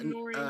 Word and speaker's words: KNRE: I think it's Nori. Nori's fine.